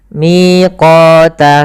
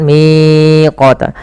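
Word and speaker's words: ميقاتا: th'i panjangkan dua harakat miq miqota kita tahan miqota sama panjangnya dua harakat jangan miqota hati-hati juga di dalam melafalkan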